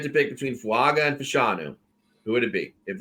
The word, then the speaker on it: Fashanu: Fashanu, it's Fashanu adding on, for God's sakes. I mean, even fucking John Levitz was able to pronounce that when I gave him the opportunity to. And Fatanu, right?